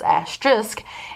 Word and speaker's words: asterisk: me to say because I learned only a few years ago that it was asterisk, and it's hard for me to keep remembering to say it the right way after years of pronouncing it the wrong way.